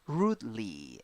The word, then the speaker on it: rudely: 6 letters, 5 sounds, 2 syllables. The first syllable is a stressed syllable, and you have a long U. Ooh, and then E. Rudely, rudely, rudely.